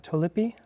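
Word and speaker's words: Tolype: A large tulipe, I think is how it's pronounced. I'm not 100% certain, but yeah.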